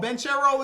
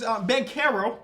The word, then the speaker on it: Banchero: Oh, Banchero is Banchero. I've been saying his name wrong.